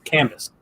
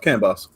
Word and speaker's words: CAN bus: that's helpful but yeah canvas what's your thought i love canbus just just note clear pronunciation on that one canvas not cannabis or you want to say it properly can bus yeah which